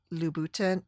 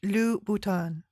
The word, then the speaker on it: Louboutin: like Richard Quinn and with brands like Christian Louboutin. Oh, I'm saying it wrong. Christian Louboutin, Paul Smith, and Nike.